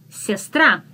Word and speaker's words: сестра: The next one is сестра. Сестра. Сестра. Sister. Very similar to the English language, just we pronounce every single letter. Сестра. Сестра. Make е soft.